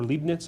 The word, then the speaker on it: Leibniz: was his last name live knits wideness I think they're Leibnitz I've heard it pronounced that way as well so he